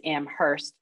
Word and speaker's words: Amherst: yeah um let's see williams was founded in 1793 amherst in 1821 um yes and and i do like your pronunciation it is amherst um and uh